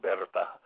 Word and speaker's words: Bertha: best friend uh uh it looks like bertha when you read it but it's pronounced berta and bertha is a